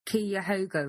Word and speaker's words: Cuyahoga: Well, yeah, in the Cuyahoga River. Whatever river that is. Good job on the pronunciation. Cuyahoga River, that's it.